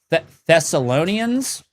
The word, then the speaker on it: Thessalonians: Thessalonians.